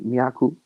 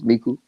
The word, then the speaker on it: Meaku: A lot of people pronounce my name Meaku. It's Meaku.